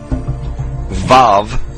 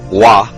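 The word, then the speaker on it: ו: The Hebrew letters sound like this: Yud, He, Vav in the modern Hebrew, or Wah in the ancient Hebrew, and then He.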